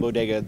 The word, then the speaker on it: Boyega: And his name is John Boyega, the hero in the movie. His name's what? Boyega, John Boyega. It's easy to remember because it's like John Boy Walton.